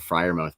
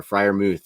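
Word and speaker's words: Freiermuth: group there is some athleticism there um but friar mouth baby is or friar mooth sorry is it firemouth it's mooth smooth okay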